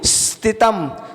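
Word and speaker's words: स्थितम्: उसके बाद में स्थित इसमें जो सा लगा है ना सा है वो आधा सा है तो आधे सा का उच्चारण सीटी की तरह होता है जैसे सीटी निकल रही हो स्थितम स्थित उसके उसके बाद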